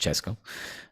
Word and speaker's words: CSKA: 3-0 against CSKA Moscow, which is pronounced Chesko.